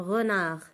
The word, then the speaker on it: renard: Le son de, je ne le prononce pas. Alors, renard. Le mot renard contient 2 syllabes. Le mot renard contient, pardon, 2 syllabes. Re, la première syllabe. Nar, nar.